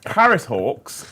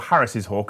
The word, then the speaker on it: Harris's hawk: though like Batman you know like FAL man Harris Hawks are or Harris's hawk is the correct pronunciation is one of the only Birds to